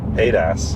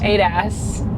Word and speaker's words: ADAS: Adas, how do you say it? Adas. Adas.